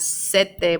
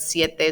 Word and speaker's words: siete: have heard these seis siete not sete but siete so make sure you